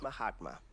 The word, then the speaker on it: Mahatma: It's pronounced Mahatma, but I get the joke.